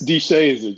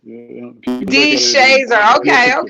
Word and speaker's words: DeShazer: It's DeShazer, just as it's spelled. DeShazer.